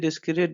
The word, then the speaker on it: discrete: Next one, this is डिस्क्रीट डिस्क्रीट। इन दोनों का जो प्रोनाउंसिएशन है वो दोनों का सेम है।